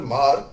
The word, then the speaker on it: Hmar: lot of Mar population, HMAR, it's pronounced as Mar.